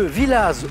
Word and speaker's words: Villaz: Loir-et-Cher bon c'est certain de Villaz et on prononce le Z on prononceuse Elisabeth de